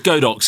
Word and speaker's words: Godox: So how do you pronounce is it Jodox? Jodox? Come on, Ruth, you're the queen of pronunciation. Let's just call it Godox. It's Godox, it is, James.